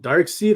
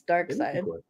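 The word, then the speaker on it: Darkseid: one for you folks is it dark seed or dark side that's not a question it's dark side yeah dark side i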